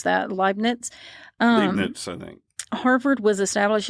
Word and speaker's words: Leibniz: I don't know how to pronounce that. Leibniz, I think.